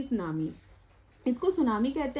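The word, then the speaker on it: tsunami: सो ये आता है जैसे टी सुनामी, इसको सुनामी कहते हैं, और टी इसका साइलेंट होता है। मैंने आपके लिए रीड करके दिखाया, लेकिन टी नहीं बोलते, हम इसको सुनामी कहते हैं।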